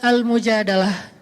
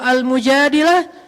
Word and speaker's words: Al-Mujadalah: Jadi tergantung kita bacanya dilah atau dalah. Kalau kita baca Mujadilah, berarti perempuan yang lagi curhat. Kalau kita baca Al-Mujadalah, berarti curhat itu sendiri.